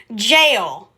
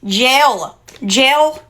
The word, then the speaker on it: gel: Gel polish, not jail polish. Gel with an E. Gel, not jail.